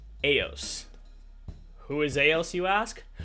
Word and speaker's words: Eos: bet you didn't know no EOS is actually pronounced AOS who is AOS you ask well AOS and